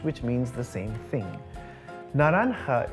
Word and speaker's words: naranja: Naranja is spelt with a J, but is pronounced naranja because that's how J is pronounced in Spanish.